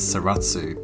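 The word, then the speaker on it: Zaratsu: the term used is saratsu polishing saratsu is a japanese pronunciation of the name of a european company they used to make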